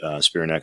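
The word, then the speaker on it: Spiranac: You had Paige Spearneck, I think is how you say her last name, Amy Cho, and there were a few others like that.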